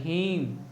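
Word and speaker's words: hymn: एच वाई एम एन ये क्या लिखा है हीम क्या लिखा है हीम एच वाई एम एन का मतलब क्या होता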